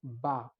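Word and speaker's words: bas: Opposite of it is ba, B-A-S.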